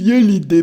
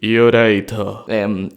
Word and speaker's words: Iolite: Gecko, deja de decir Iolite, pronuncialo bien. Pero ¿cómo se dice entonces? Yoraito.